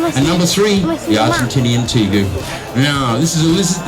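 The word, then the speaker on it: tegu: is the argentinian teague and that's how you pronounce it teague t-e-g-u t-gu if you're american you pronounce it take you could you be incorrect the term is teague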